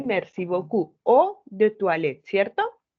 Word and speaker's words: eau de toilette: O de toilette, ¿cierto? Porque dijimos que EAU se pronuncia como O, ¿cierto? O, de, toi, wa, ¿cierto? Toi, le, ¿cierto? O du toilette. No pronuncio ni la T.